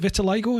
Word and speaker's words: vitiligo: With your vitiligo, is it vitiligo? Is that how you pronounce it?